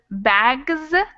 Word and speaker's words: bags: It's not supposed to be in this list because bags is pronounced like a Z, and that G is in this list up here.